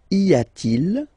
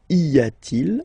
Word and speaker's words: y a-t-il: And the way you will pronounce it is y a-t-il, y a-t-il.